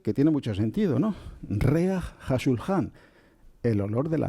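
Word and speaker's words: ריח: Bueno, esta palabra se pronuncia reaj.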